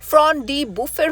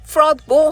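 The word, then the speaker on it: Front-de-Boeuf: ফ্রন ডি বুফের উচ্চারণ যে ফ্রদ বো হতে পারে এটা কে জানত?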